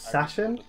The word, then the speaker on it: Sachin: My name is Sashin. S-A-C-H-I-N. That was intense. But I pronounce the C like an F.